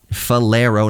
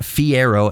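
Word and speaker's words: Falero: clinet the May 1990 fero fero not Fiero f a l e r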